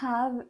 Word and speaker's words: have: D'ailleurs, attention à la prononciation, les H en anglais doivent s'entendre, c'est-à-dire que vous devez prononcer have et pas have. Vous ne devez pas couper votre respiration. Petit tips pour savoir si vous prononcez bien les H, vous devez mettre votre main devant la bouche et quand vous prononcez have, vous devez sentir de l'air sur votre main.